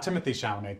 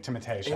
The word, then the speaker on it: Timothée Chalamet: Not Timothée Chalamet, Timothée Chalamet. It's pronounced Timothée.